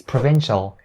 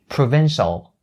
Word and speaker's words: provincial: And the second word is provincial. Keep in mind when you pronounce this word, try to make the L sound at the end a little bit more clear.